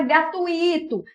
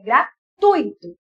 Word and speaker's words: gratuito: português docinho docinho delicioso muita gente fala gratuito não é verdade se fosse gratuito teria acento pela regra do iato Mas isso não é o correto é gratuito viu da mesma forma que